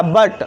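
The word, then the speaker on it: but: तो यहाँ पर भी यहाँ पे भी ये जो यू है इसका उच्चारण क्या होगा, अ के समान होगा। तो यहाँ पे क्या इसका उच्चारण हो गया, बट। अ का उच्चारण हो रहा है ना, बट मीन लेकिन।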